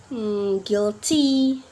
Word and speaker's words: guilty: be silent to in a word like guitar guilty tongku got guess yep we're not pronounce the letter U in the word right